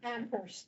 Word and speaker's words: Amherst: Amherst. Yeah. Where only the H is silent.